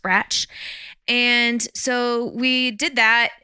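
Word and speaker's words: Brač: actually spell it is be RAC but it's pronounced branch and so we did that and that was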